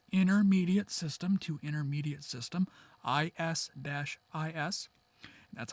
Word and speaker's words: IS-IS: There is Intermediate System to Intermediate System, IS-IS.